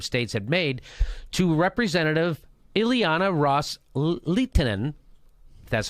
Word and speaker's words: Ileana Ros-Lehtinen: So Kerry reiterated to that offer that the Saudis and the Qatar, the Sunni Arab states had made to Representative Ileana Ros-Lehtinen, that's how you say her name, quote, with